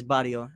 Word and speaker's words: barrio: Because I called it Barrio, but you got to roll the R's, right? It's Barrio.